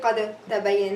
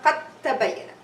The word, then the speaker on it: قد تبين: I'm not gonna say قد تبين. No. I'm going to merge the dal into the ta and pronounce with shadda. قد تبين. قد تبين. See, it's going to be as you are saying qaf ta. There's no dal.